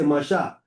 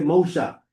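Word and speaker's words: משה: We say Moshe. We say Masha. Masha. We say Masha. Okay. They say Mosha. Mosha. So we we're close to that vocalization that they had. Okay. Right. Yeah. We're going to Yeah. Yeah. Cuz it's Masha. Yeah. It's Yeah. We close to their vocalization than the Tiberian thing.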